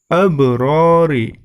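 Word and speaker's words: الْأَبْرَارِ: Kemudian selanjutnya abrori yang berwarna hijau, di situ terdapat ba, huruf qalqalah, ba sukun. Maka cara membacanya harus memantul.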